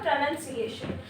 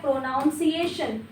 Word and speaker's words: pronunciation: इसको आप बोलते हैं प्रोनाउंसिएशन जो कि एक रॉन्ग प्रोनाउंसिएशन है। प्रोनाउंसिएशन नहीं होगा प्रोनंसिएशन होगा। प्रोनसिएशन नाउन नहीं है। ये नाउन नहीं नन है। प्रोनाउन नहीं नन। प्रोनंसिएशन।